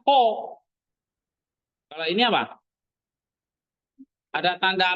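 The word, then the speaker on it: ὁ: Kalau ini, ya pakai H. Jadi bacanya ho.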